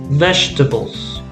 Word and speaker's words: vegetables: correct vegetable so you see it looks like four syllable but it's actually three syllables vegetables okay how about this